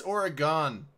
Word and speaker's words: Oregon: To Oregon shooter, it's Oregon. Oregon. No. Here's the thing. It's origami. No. Like, just a pronunciation thing. Everyone on the East Coast calls it Oregon. It's Oregon. Just saying.